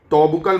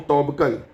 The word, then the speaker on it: Toubkal: तोबकल mountain है, mount तोबकल। Spelling थोड़ा देख लेना, वैसे TOUBKAL ऐसे ही है, तोबकल। अब ये हाईएस्ट पीक है जो कि मोरक्को में है, कहाँ पे है ये?